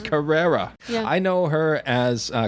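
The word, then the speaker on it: Carrere: years old today I used to say tia Carrera for some reason Carrera it's Carrera I know her as uh Cassandra from Wayne's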